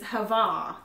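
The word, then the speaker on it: הַוָּה: the descriptive word the deadly destroying noisome is hava is how it's pronounced and I'm just gonna give you again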